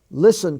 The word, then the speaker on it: listen: stands for just s listen to me l-i-s-t-e-n it's not spelled l-i-s-s-e-n it's l-i-s-t-e-n and as I said